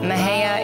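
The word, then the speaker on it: Mexia: than the factories Maha is a a town just east of Waco and it has a very interesting spell it's me x i a I was always intrigued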